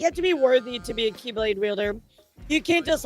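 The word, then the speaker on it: χ-blade: It's just pronounced like keyblade even though it's just one keyblade.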